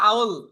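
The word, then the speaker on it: I'll: আউল আউল, এটাকে উচ্চারণ করবো আউল।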